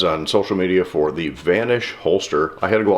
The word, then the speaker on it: VNSH: for the vanish holster spelled without vowels just V nsh pronounced vanish and is that because